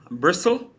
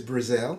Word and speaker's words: Brazil: Mark Bristle. I think I pronounced it correct. Is Brazil. Yeah, Brazil. Sorry, Mark Brazil.